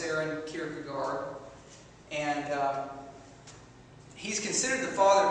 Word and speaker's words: Søren Kierkegaard: But it's pronounced Søren Kierkegaard.